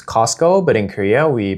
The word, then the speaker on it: Costco: 그래서 한 번은 one day 미국에서 엄마랑 저랑 Costco를 가게 됐는데 참고로 영어로는 Costco라고 발음하지만 한국에서는 Costco라고들 발음해요. So in Korea, it's a silence, right? This T in Costco, when you pronounce it, you don't pronounce it, right?